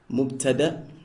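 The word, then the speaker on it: مبتدأ: Part one, a subject, pronounced in Arabic as mubtada, mubtada.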